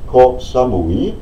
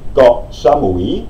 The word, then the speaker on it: Koh Samui: Es heißt nicht Koh Samui, sondern Koh Samui. Na? Koh Samui.